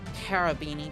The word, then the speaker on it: Cherubini: shoot or are they going to go for cherubini i mean technically it's pronounced carabini because carobs are pronounced with the k sound